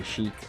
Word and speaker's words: Sheik: Oh, Sheik. I forgot about that. It literally rhymes with Shrek.